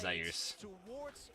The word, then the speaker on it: Zeus: by Zeus in Korea that's why it gets pronounced as zus yeah return to Lane 369 waiting in the